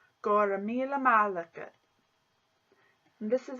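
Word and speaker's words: Go raibh míle maith agat: And this is how it's pronounced. Gora mille malaka. Gora mille malaka.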